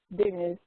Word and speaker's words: Deniz: use it as Den although it's Denise like the boy's name and Z but Denise is just